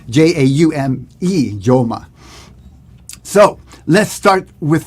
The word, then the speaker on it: Jaume: Joma. It's actually a Catalan name. This is from Joma. Jaume.